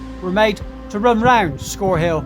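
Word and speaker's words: Scorhill: According to Wikipedia, the pronunciation should be Scorehill, but the locals talk about, for example, Anginstone Hill, so I'm going to stick with Scorehill.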